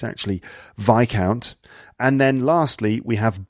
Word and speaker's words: Viscount: EA RL earl and after that you have vai count which is actually spelt vis c o u NT it looks like Viscount but it's actually vai count and then lastly we have baron okay there's